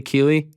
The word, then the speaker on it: Keeley: your your your best friend 25 years alex keeley i believe am i pronouncing his name correctly keely alex keeley yeah yeah he walks out of the o2